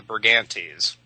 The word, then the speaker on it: Brigantes: with that annoying ES ending pronounced E's, the Brigantes.